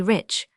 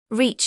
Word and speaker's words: rich: Our English adverbs do not terminate in Mong, and we pronounce the ch. As if there were a T before it, we say rich. Reach, he remarked the foreign gentleman.